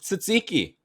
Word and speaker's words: tzatziki: say it it's called tzatziki is that all what i said you said no you like a ts so like they say the word bats what okay say the